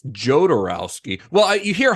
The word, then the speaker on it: Jodorowsky: Ukrainian yeah so it's it's a Spanish pronunciation of a Russian name yeah yeah yeah if